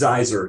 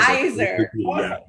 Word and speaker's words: Zaiser: I looked at it, I realized it's Zaiser, just like Kaiser. Zaiser.